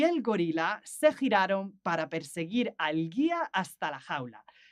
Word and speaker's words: perseguir: And interesting, this one, perseguir. So that doesn't sound like the previous sound, giraron. It sounds gir. So we need that U between the G and the I to make that sound gi, perseguir.